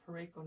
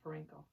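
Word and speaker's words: Parayko: I think it's pronounced Pareko, not Parenko. Pareko.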